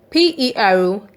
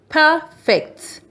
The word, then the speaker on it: perfect: P-E-R-F-E-C-T. When the stress is on P-E-R, the word is pronounced perfect. Your homework is perfect.